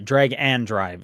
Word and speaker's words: Drag x Drive: Um, I was playing Drag X Drive. Sorry, Drag and Drive is that is how you pronounce it.